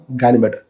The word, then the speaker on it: Ganymede: ഇപ്പോഴാണ് കിട്ടിയത് പെർഫ്യൂം ഇതാണ് ഇതിന്റെ പേര് പലരും തെറ്റിച്ചാണ് ഉച്ചരിക്കുന്നത് യഥാർത്ഥത്തിൽ ഇതിന്റെ പേര് മാർക്ക് ആന്ദ്വാൻ ബാർവ ഗാനിമേഡ് എന്നാണ് പെർഫ്യൂമിന്റെ ഫ്രഞ്ച് ഉച്ചാരണ ശൈലിയിൽ പ്രൊനൗൺസ് ചെയ്യേണ്ടത് ഗാനിമേഡ് എന്ന് നമുക്ക് വേണെങ്കിൽ പറയാം